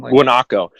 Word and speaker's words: guanaco: website are there no those coyotes what not guanaco yep when aku they're like they're like yeah some guanaco yes it's spelled GU a and co guanaco and yeah